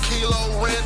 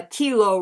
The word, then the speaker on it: Kylo: to war with stars as you offer a kilo oh you ain't scared when you tried to